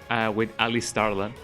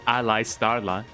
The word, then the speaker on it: Ali Starla: I'm gonna be having a co-op stream with Ali Starla. I used to pronounce it Ali Starla because ally, like an ally, but no, it is Ali Starla.